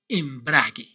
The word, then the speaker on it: embrague: You must pronounce these three words like this: ceguera, guitarra, embrague. Did you notice any difference with our previous words? Exactly. In these three words, you must not pronounce the vowel U.